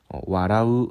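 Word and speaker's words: 笑う: " warau" 라고 읽습니다 .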